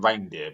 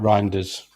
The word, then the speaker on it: Reinders: I call him Reindeer because of the way it's spelled, but Reinders.